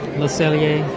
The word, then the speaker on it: Le Cellier: Le Cellier, yeah.